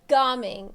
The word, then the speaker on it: Gaming: Gaming.